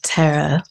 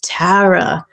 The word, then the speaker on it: Tara: it to you well I used to say it like Tara but then when I moved here I was informed by rosheen Garvey that I was saying it wrong my whole life okay and she said no it's Tara so so you've adopted it